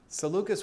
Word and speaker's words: Seleucus: Another comment from Art that says, Ptolemy hijacked Alexander's body and took it to Egypt, and that Seleucus has a hard C. Seleucus with a hard C.